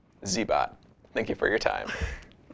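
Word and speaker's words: Cybot: or messages on instructables zbot is spelled c-y-b-o-t like z-bo but a robot zbot thank you for your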